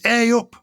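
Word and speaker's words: ayup: what it is aop I think it's aop oh you're right it's spelled a y u p Susie and DRS but do you think that's what it is aop yeah aop it can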